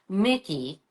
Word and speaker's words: Micqui: She retired last year, and her daughter, Mickey, I love Mickey's name. Mickey is spelled Micqui.